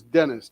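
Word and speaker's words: Denis: By the way, if you guys see that Russian name, that first name is Dennis, D-E-N-I-S, as we would say it, and that's how those letters are pronounced.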